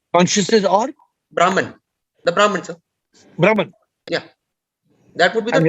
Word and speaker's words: Brahman: or brahman the brahman brahman yeah that would be the true identity yeah brahman let's not pronounce it as brahmin then they start thinking